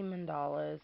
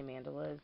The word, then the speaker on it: mandala: mandalas some people say mandalas some people say mandolas um however you want to pronounce it I guess but there is several